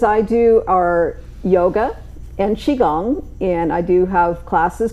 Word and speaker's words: Qigong: I usually have to say, when you see it spelled, it's Qigong. With the Q, you usually pronounce that as a CH. So pronouncing it as Qigong.